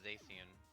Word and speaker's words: Zacian: gonna say, I'm pretty sure it's Zacian. But they're both yeah. Z's. They are both A. Z's. They're actually spelt with X's.